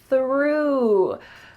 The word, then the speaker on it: through: We have a TH followed by an R. Let's practice it slowly. Your tongue is coming out between your teeth, and there's some air. That's a wonderful TH sound. Through. It sounds like I threw the ball. This is the past tense of throw.